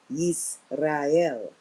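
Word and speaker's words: יזרעאל: In Hebrew, that's actually, if you pronounce in Hebrew, it's Yisrael. Yisrael.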